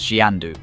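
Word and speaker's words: Xanadu: tale was that of zanadu pronounced as xiandu the grand Abode of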